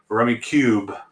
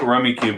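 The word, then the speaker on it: Rummikub: morels359 358 rummy cub rummy cube i think rummy cube is the official way to say i always say rummy cub because in english that's how you pronounce such words but um i'm going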